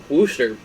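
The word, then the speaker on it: Worcester: wall um their triple a team and uh wooster it's not definitely should not be pronounced booster but it is uh they have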